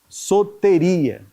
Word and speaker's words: soteria: na língua grega Tá mas soteria tanto o o quanto o e tem tem som fechado aí Livramento espiritual e eterno